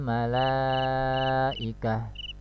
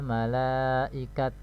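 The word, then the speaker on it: الملائكة: Jadi cara membaca wakafnya adalah alal malaikah, alal malaikah, ya. Bukan misalnya hanya disukunkan tanya, jadi alal malaikat. Nah, ini salah, ya, itu salah. Alal malaikah, nah, cara membacanya demikian.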